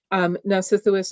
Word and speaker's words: Nausithous: asking you to repeat, just because the first syllable keeps not coming through to me. That's all it is. Nausithous is correct, so that's 20 points for New Hampshire on toss-up 7.